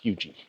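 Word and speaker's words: Huger: that pretty neat our next stop is Fort huji spelled h u g r but uh the science says it's pronounced huji so okay uh this was a Civil War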